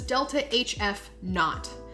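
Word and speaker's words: ΔH°f: What it actually is, or how it's pronounced, is not. So we would say this is delta HF not.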